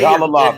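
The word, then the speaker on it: Jalolov: Jalalov. It's pronounced Ja. Like the J. Jalalov.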